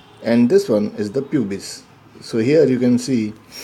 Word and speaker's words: pubis: Generally we are pronouncing this as a pubis, but actually it is pubis. But for simplicity we will pronounce it pubis.